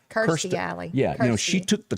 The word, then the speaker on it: Kirstie Alley: Kirstie Alley.